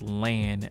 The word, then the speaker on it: Lahn: By the way, it's being pronounced Lahn on these translations. That's why I'm not calling it Ran anymore. I think Ran is fucking retarded. I think Lahn makes a lot more sense.